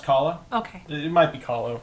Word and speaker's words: Kahlo: Frida Kahlo, thank you. You got it. Frida Kahlo? I've always heard it pronounced Kahlo.